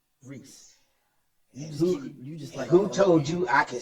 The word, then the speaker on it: Reese: I thought they said Angie Reeve. Angel Reeve. Okay, Angie. It's Angel Reese.